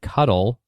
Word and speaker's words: cuttle: the lead disc and cuddle rhyming with Scuttle for the goal all